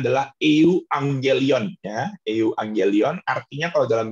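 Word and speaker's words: εὐαγγέλιον: Nah, kalau dalam bahasa Yunaninya, itu cara bacanya adalah euangelion.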